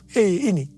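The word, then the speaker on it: ה: yang terbentuk pada huruf He ini merupakan gambaran celah atau jendela mulut Tuhan yang menghembuskan rohnya. Perhatikan juga cara pelafalan huruf ini. Pun seperti orang yang menghembuskan nafasnya. Hei.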